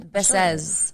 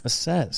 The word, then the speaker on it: Bessez: Bessez. Bessez. It's French.